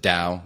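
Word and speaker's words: TAO: is a nootropic called tau t AO some pronounce it Dow but I'm from Indiana so I pronounce it tau you're just looking at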